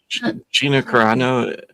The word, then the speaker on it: Gina Carano: Do you do you not know that Gina Carano, that's how you say it, by the way, is uh fighting Ronda Rousey on MVP on Netflix.